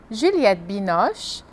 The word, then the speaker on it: Juliette Binoche: E algumas atrizes famosas, como Catherine Deneuve, Brigitte Bardot, Audrey Tautou, Juliette Binoche, Emmanuel Béart, Gérard Depardieu.